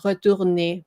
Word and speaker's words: retourner: Retourner, which is why you have to say the last syllable. This is 3 syllable.